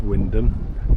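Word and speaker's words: Wymondham: And uh so she looked it up and uh it's because of what its old name was that it's pronounced Windom.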